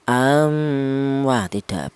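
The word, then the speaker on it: أم: Ya, seperti contoh am. Yang benar dibaca jelas am seperti itu.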